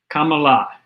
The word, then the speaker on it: Kamala: Just say the word comma, like the comma, pronunciation mark, and la, Kamala. It's in India, it means the goddess of wealth. Okay, Kamala Devi is her name, which is goddess of wealth.